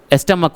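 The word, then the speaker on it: stomach: स्टमक हो गया। ठीक है ना? वो सी एच का उच्चारण क होता है।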